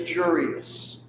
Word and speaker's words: Jurius: His name is Jurius. It means George. It also is nice because it rhymes with curious, right?